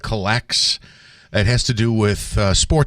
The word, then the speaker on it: COLLX: I think it's called Collects.